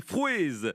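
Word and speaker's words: frouezh: Et fruits en breton, cela se dit frouez. Frouez, qui s'écrit F-R-O-U-E-Z-H.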